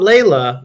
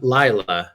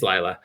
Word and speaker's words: Laya: am playing the character Laya not Leila Laya rhymes with smila um I don't know that doesn't help uh but it's not Lea it's Laya uh so now we